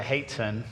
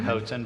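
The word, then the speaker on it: hoatzin: There there are birds like a like a haton if I'm pronouncing that right. Looks like Hoen, but Haton, you know, it's actually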